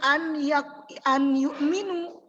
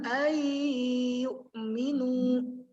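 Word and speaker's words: أن يؤمنوا: Jadi bukan bacanya an yu'minu, tapi cara bacanya adalah ayyu'minu. Ditahan.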